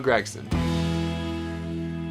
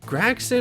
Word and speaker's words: Gragson: My interview with Xfinity Series points leader, Noah Gragson.